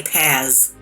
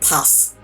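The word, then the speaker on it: Paz: actual pronunciation because Mike the Texan in me wants to say Pez but I'm pretty sure it's like pass who had been abducted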